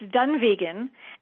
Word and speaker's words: Dunvegan: It's Dunvegan and then the other castle is Elon Donan. So, um, that's that's how it's pronounced. Elon Donan and Dunve Vegan. So, the first one, Dunvegan, is really this huge